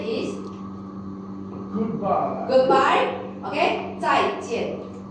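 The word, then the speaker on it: 再见: Okay, 再见。 There is no neutral tone here. You need to pronounce the tone number 4. Okay, you say 再见。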